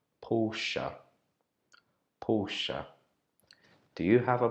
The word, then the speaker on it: Porsche: my whole entire life I have been calling this brand Porsche but uh on checking Google and doing some research I found out that we should pronounce it Porsche Porsche Porsche do you have